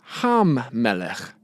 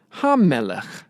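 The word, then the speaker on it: הַמֶּלֶךְ: Also, because of the doubling dagesh here, we need to make sure that we pronounce the front letter twice. So it's had-davar, had-davar, and ham-melech, ham-melech.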